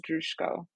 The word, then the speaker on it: Droujko: last name it's okay it's dusko but that's also how my sister and I have decided that because we it's a Ukrainian last name and it's pronounced different l in Ukrainian so when we we come from Canada so we decided that we pronounce it this way since it's our name so we pronounce it as dusko okay oh I like